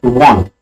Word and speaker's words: one: Okay, O makes the same sound as W in one.